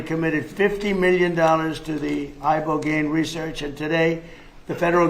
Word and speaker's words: Ibogaine: Is that pronounced relatively properly, would you say? Yes. I don't want to get it wrong. Ibogaine, because it's so important, and experienced an 80